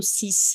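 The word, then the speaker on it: six: Os números 6, 8 e 10, sis, e dis, vão perder a pronúncia do último som. Caso do sis e do dis, é esse sonzinho de s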